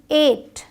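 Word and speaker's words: eight: आई जी एस टी एट ई आई जी एसटी ए यहां जी H silent है आपका डी ए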